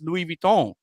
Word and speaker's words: Louis Vuitton: Vuitton is, but they don't know that it's Louis Vuitton. They don't know that they're not pronouncing it right. Well, people also don't know that Christian Louis Vuitton Um, he's not the only one that made